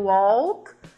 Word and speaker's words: walk: do som né então a gente puxa ele no Walk e no talk e no Half ele desaparece Então são essas diferenças